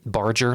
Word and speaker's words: Barger: Um, Barger like a ship, like a barge.